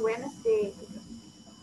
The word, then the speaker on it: Wednesday: Terus cara bacanya Wednesday ini, dia seperti gak ada endingnya ya, kayak Wednesday.